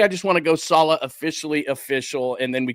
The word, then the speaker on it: Saleh: Robert Sala officially, and you can see right there, Sala. So make sure that you're saying it correctly.